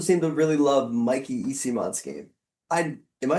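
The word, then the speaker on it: Eyssimont: He also doesn't seem to really love Mikey Isimon's game.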